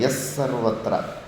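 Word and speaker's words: ಯಃ ಸರ್ವತ್ರ: ಯಸ್ಸರ್ವತ್ರ ಅಲ್ಲ ಯಹದಲ್ಲಿ ವಿಸರ್ಗ ಇರುತ್ತಲ್ಲ, ವಿಸರ್ಗ ಪಕ್ಕದಲ್ಲಿ ಸಕಾರ ಶಕಾರ ಬಂದಾಗ ಅರ್ಧ ಅಕ್ಷರಗಳ ಥರ ಉಚ್ಚಾರಣೆ ಮಾಡಿದ್ರೆ ಉಚ್ಚಾರಣೆ ಚೆನ್ನಾಗಿ ಬರುತ್ತೆ. ಎಸ್ ಥರ ಯಹ ಅನ್ನುವಾಗ ಎಸ್ ಸರ್ವತ್ರ. ಎಸ್ ಎಸ್ ಇಂಗ್ಲೀಷಲ್ಲಿ ಎಸ್ ಅಂತಾರಲ್ಲ ಆ ಥರ. ಎಸ್ ಸರ್ವತ್ರ ಆ ಥರ.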